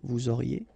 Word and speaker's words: vous auriez: Vous auriez, a Z at the end, et auriez, and then the liaison, vous auriez.